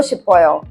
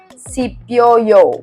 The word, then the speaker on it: 싶어요: But actually in Korean there's a rule: when shiot is followed by E, instead of pronouncing it as C, you pronounce it as she, which is why it becomes 싶어요, 보고 싶어요, and not 보고 싶어요, right?